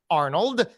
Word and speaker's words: Rnold: the is the correct spelling and the correct pronunciation is Arnold it's Arnold and Michelle Falcone how are you good